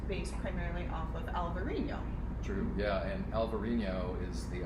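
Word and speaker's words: Alvarinho: the spanish pronunciation in alvarino a little different spelling same grape is the portuguese pronunciation yeah so vino verd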